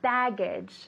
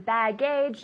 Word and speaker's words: baggage: Baggage, no. Baggage. Baggage, with the emphasis on the first syllable.